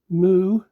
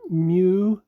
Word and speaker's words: mu: Uh, I've always heard it called mu, probably because of hearing it pronounced mu for most of my life and the English words like museum and muon. And it seems a little awkward and odd to call it moo like a cow makes a noise.